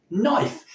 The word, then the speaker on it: knife: And that modern day equivalent is obviously knife. Now, at some point in the transition from Old English through to Middle English and into Modern English, that K sound gradually drifted away.